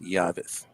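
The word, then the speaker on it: llaves: The keys are pronounced Yavis. Yavis. Yeah, I always mispronounce that one. Sorry. That's all right. It's just Yavis. Yeah. That double L is that's such a funny pronunciation.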